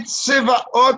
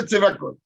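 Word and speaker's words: צבאות: Ce n'est plus des chirik, ce n'est plus le chirik de Tzivot, mais Tsevaot, qu'en général, on fait attention de ne pas prononcer. C'est pour ça qu'on a dit de prononcer Tsevakot.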